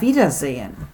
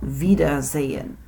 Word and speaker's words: Wiedersehen: Auf Wiedersehen is the next word. It's a long one. And be tricky about that first letter in Wiedersehen. That's not a vowel, that's a V. Sounds like V. Auf Wiedersehen.